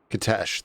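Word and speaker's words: Kitezh: We found Kitesh, that's how she pronounced it.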